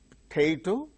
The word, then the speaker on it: potato: syllable bow above about likewise potato potato no potato second syll is stressed relation second syllable gains